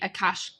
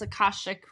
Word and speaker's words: akashic: records read to me my aash I always say it wrong but it's akashic records and there and multiple